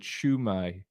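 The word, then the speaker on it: Shwmae: hold on a minute oh so that's how you spell it right that's how you pronounce it shumai how do class oh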